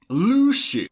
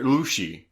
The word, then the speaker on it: Lucy: Uh, how like if you had to phonetically spell the way they say Luci. Uh, I would say L U S H E Y.